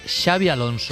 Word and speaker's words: Xabi Alonso: En euskera la X no se pronuncia igual que la X en catalán. Es un matiz, es un pequeño matiz que yo le llamo, yo lo catalanizo, yo le llamo Xavi Alonso.